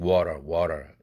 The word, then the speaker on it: water: 이것을 다 미국의 원어민들은 water 이렇게 편하게 발음하고 있어요.